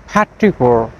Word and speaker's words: petrichor: যেটিকে ইংরেজিতে বলা হয় প্যাট্রিকোর হ্যাট্রিকোর এটিকে অনেকেই প্যাট্রিকোর প্রোনাউন্সিয়েশন করে থাকেন বাট কারেক্ট প্রোনাউনসিয়েশনটি হবে ফার্স্ট সিলেবলটি স্ট্রেস হয় এবং লাস্ট লেটার আর এখানে সাইলেন্ট থাকবে আই হোপ দিস ভিডিও